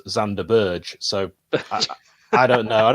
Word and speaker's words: Sander Berge: who knows i mean chris wilder also pronounces uh sander berger as zander burge so i don't know